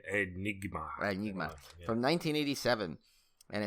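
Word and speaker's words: Aenigma: But is it Enigma? But like it's spelled weird, right? Yeah, Enigma.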